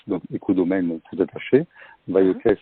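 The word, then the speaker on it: Vailhauquès: Oui, Écodomaine, Baïokès, donc Écodomaine tout attaché. Baïokès, ça s'écrit VAILHAUQUES. Baïokès.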